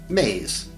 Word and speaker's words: me: which we will call me's pronounced maize belief systems and words